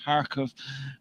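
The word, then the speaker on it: Kharkov: k was silent and it's pronounced harkov and uh and then it was going to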